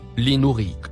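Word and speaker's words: لنريك: Le mot en surbrillance jaune se prononce linourik.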